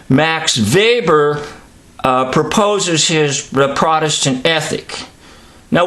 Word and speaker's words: Weber: you want to say Waber but actually is pronounced very with a V sound Max Weber proposes his Protestant ethic